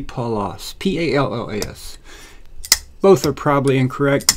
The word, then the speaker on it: Pallas: going to stick with I don't think it's Palace because that would be you know like a big giant house I think it would be paulos p-a-l-o-a-s both are probably